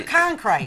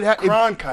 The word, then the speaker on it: Cronkite: Now, see, people were saying that name for years. Walter Concrete. But Cronkite.